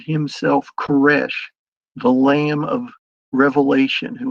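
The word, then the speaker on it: כורש: Cyrus in Hebrew is pronounced Kesh.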